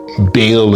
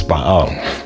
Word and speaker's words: Baal: was the worship of Baal Bale as they would say in America but the real pronunciation is Baal.